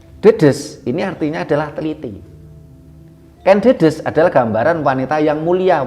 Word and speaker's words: Ken Dedes: Ketika kita bicara tentang tadi Ibu Ken Dedes ya, kita sampai berkali-kali juga kita sampaikan bahasanya membacanya adalah Ken Dedes, bukan Ken Dedes.